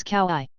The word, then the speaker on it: Kauai: My name is Kauai. In Hawaiian each vowel is pronounced, none are silent. However, native speakers tend to blend them together. For example, A and U would make an AO sound.